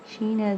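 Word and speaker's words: شین: which is Sheen okay Sheena is the same shape like scene but it has three doors on it and it's sound is like the alphabet sh words okay H sound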